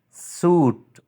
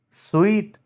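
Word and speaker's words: suite: vegetable is Right pronunciation suit suit is wrong sweet is Right pronunciation satet satet is wrong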